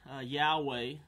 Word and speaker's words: Yahweh: remember Jehovah is God Yahweh is the better pronunciation Jehovah is more common more